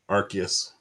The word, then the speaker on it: Arceus: You pronounce that Arceus? Arceus.